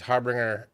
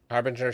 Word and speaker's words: Harbinger: want two of these Harbbringer Harbinger scarabs. I keep saying it wrong.